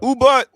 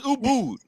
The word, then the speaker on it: Ubud: I don't think they want you to come though until you learn to pronounce the names of their cities and countries and societies and shit. So Ubud. My bad. It's Ubud.